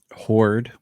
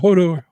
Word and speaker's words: Horde: uh the the lady works for horde that's how I pronounce this just horde and it was te yeah hoor I was trying not to be like Hodor Hodor not yeah I was going to say not Hodor hoer um but I